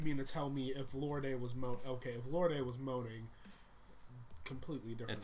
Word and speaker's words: Lorde: So you mean to tell me if Lorde was moaning, completely different. It's pronounced Lord, and I say Lorde because it makes her sound fancy, and I love it's her.